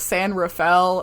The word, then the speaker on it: San Rafael: It pains me to say, but all of the local people call it San Rafael, and as someone who speaks Spanish, it's not supposed to be pronounced like that, but I will accommodate to the regional pronunciation.